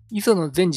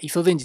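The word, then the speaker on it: 磯禅師: 磯善治って読んでましたけど、磯の善治ですね。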